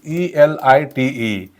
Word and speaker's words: elite: Now next word is ELITE, and त्याचा उच्चार होतो, करेक्ट उच्चार होतो elite, elite. Okay, what is the correct pronunciation?